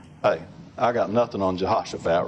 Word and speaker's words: Jehoshaphat: The pronunciation really said that ought to be, I always say Jehoshaphat. Pronunciation guide said it really ought to be more of a Jehoshaphat and a kind of a H sound there.